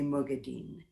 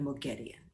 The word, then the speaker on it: Moghedian: So why did I say Mogadin instead of Moghedian?